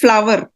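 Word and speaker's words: flour: is not Flor it's flower f l o u r but its pronunciation flower she sells flower she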